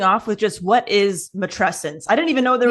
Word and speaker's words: matrescence: You can use, it's matrescence like adolescence.